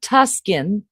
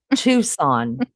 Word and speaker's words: Tucson: Laney, please tell Maggie how to pronounce not Tuskin. Tucson.